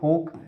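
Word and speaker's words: folk: है क्या बोलते हैं इसको फोक इसको यल इसमें साइलेंट है नहीं इसको बोलते हैं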